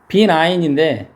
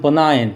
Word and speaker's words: benign: 이게 B9인데, 뒤에 강세가 있기 때문에 B9보다는 benign 이렇게 발음되는 단어고, benign employer가 친절한 고용주인데요.